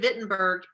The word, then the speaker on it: Wittenberg: His parents had paid for him to go to the University of Wittenberg. I know it's spelled with a W, but it's pronounced with a V. Okay, so the University of Wittenberg, the city of Wittenberg